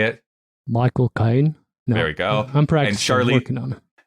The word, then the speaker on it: Michael Caine: hallstrom written by john irving starring tobey maguire michael kane how do you say it michael caine there we go i'm practicing charlie and charlize